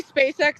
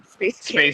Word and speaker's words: SpaceX: it's SpaceX, like the actress, but it. SpaceX. Yes, but people say Space K just to mess, or I don't know. Some people pronounce it like that by accident.